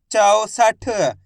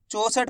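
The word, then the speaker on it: चौसठ: 64 ऐसे नहीं पढ़ना है। 64 64 पढ़ दोगे तो ओ की मात्रा का उच्चारण निकल जाएगा। औ करके उच्चारण निकालना है।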